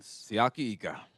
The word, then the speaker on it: Siaki Ika: Siaki Ika.